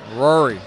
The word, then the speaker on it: Ruairi: Now, how do you say his first name? Rory. Although it's spelled for our viewers at home, Ruairi.